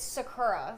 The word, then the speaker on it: Sakura: It's Sakura. Like that's what I've always gone by and that's very like North American way to say it. Sakura.